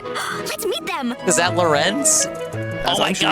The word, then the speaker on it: Lorenz: lifespan of the entire game without having base Lorenzen?